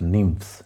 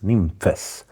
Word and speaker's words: Nymphes: Today we talk about the Dreadbox Nymphes, which is pronounced in the Greek way, not nymphs, nymphes.